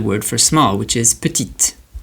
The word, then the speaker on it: petit: So an example of that will be the word for small which is petite. Petit petit petit.